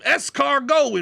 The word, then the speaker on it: escargot: We can have ourselves some escargot in Bossier. He thought it was the funniest thing in the world that I pronounced what's very clearly a French word with the French pronunciation.